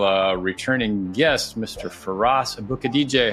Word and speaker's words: Aboukhadijeh: Uh, for those of you that wonder how to say his name, it's think about like booking a DJ for a for a show or something like that.